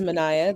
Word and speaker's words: Manaya: me first of all my name is manaya that's three syllables six letters um i am currently